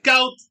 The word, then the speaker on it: koud: 你的嘴巴应该很小。GOU, GOU, GOU, GOU, GOU, GOUT, GOUT, GOUT, OK?